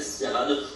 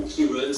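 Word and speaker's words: Ciarán: parle depuis plusieurs jours la tempête sirane ou kirun la prononce àirlandaise on aura des rafales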